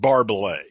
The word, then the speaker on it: Barbay: Tom barbet contact Barbay he pronounces it Barbay Barbay yeah okay Barbay coar